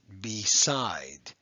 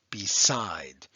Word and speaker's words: beside: pronounced b side b we have a long e there okay that e is saying its name that's an open syllable